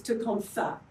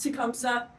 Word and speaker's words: Tecumseh: The correct pronunciation of Tecumseh is Tecumseh, with the th at the end. It doesn't, people have been told it's Tecumseh.